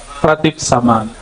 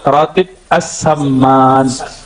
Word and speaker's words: ratib as-saman: Ya, yang pertama tadi tentang ratib saman. Sebenarnya cara bacanya ratib as-saman.